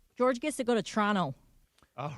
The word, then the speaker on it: Toronto: George gets to go to Toronto. All right. Yeah, I'm going to. I've got Boston this weekend, then I've got Detroit, and then Toronto.